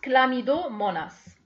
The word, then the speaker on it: Chlamydomonas: Ça s'écrit avec un H, mais ça se prononce Chlamydomonas.